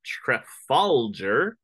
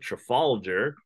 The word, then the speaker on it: Trafalgar: French and Spanish Fleet at Trafalger that's how you pronounce it Trafalgar off the coast of Spain in 1805.